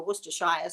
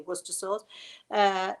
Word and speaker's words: Worcestershire: need red wine vinegar, you need Worcester sauce, or as you say in America, Worcestershire sauce, but it's really Worcester sauce.